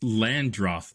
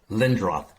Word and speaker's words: Lindroth: And, and we're joined this week by Landgraf. Oh, did I see your name? Is that the right right pronounce Lindroth Lindroth I'm sorry.